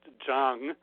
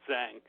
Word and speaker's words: Zhang: all of us because it's a Chinese name and it's really pronounced Chung but that's not really hard for people to say so I'm perfectly happy with Zhang it's ok well it's